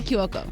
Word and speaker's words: Cuoco: name kaylee kyoku kaylie kiyoko she said think of it as ku as in coup d'etat now say it's kayla